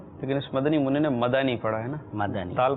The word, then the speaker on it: مدنی: کی غلطی ہوتی ہے کہ مدنی کہتے ہیں، مدنی، دال پر ساکن پڑھتے ہیں اس کو نا، مدنی، یہ لفظ غلط ہے. لیکن اس مدنی منی نے مدانی پڑھا ہے نا، مدنی، دال پر زبر پڑا ہے.